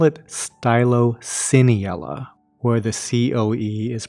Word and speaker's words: Stylocoeniella: that c-o-e in the middle i call it stylociniella where the c-o-e is pronounced s-e-e as in like celocamp but i've also heard it pronounced styloconiella anyway pronunciation aside let's talk about what these